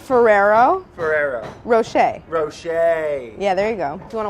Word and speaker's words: Rocher: I don't think I've ever pronounced this candy correctly. I just call them New Rochelle balls. New Rochelle? New Rochelle Like balls. New Rochelle, New York. What are they called? Ferrero Ferrero. Rocher.